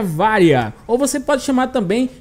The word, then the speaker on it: Varya: melhor forma de pronúncia na língua inglesa ela vai ser chamada de vaia e na língua portuguesa podemos chamar ela de várias então vai ficar mais